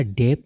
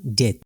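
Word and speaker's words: debt: भी B silent रहेगा डेप नहीं होगा बल्कि होगा डेथ डाउट बी साइलेंट है लेम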